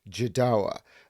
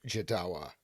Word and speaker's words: Jodawo: is supposed to be jedowa um i believe um i've been told it's like joshua but with a dart in the middle so jadawa i think um and